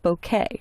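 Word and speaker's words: bokeh: Now, there's a lighting effect called bouquet. And that's actually how it's pronounced.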